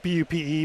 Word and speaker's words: Bupe: It's spelled B-U-P-E, but it's pronounced Bupe.